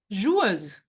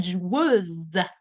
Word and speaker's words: joueuse: By the way, the feminine will be une joueuse. Un joueur. The R is ending the pronunciation with the masculine, and joueuse, z. You're going to have the Z sound at the end of it for the feminine.